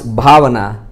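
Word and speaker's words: bhāvanā: We pronounce bhavana, not because it has to be with age, and you cannot write with P here. Some people like this, it's wrong. But it has to be B, because B here, Bha, yeah.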